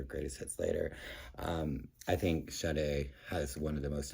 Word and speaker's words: Sade: It actually says in parentheses, pronounced Sade. S-H-A-D-A-Y. There's no R in that pronounced. It's not pronounced Sade.